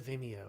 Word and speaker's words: Vimeo: I think it's Vimeo is it Vimeo it's Vimeo yeah VI okay I'm trying to remember if